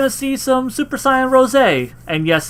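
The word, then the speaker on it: Rosé: Also, you know, we're going to see some Super Saiyan Ros. And yes, it's pronounced Ros.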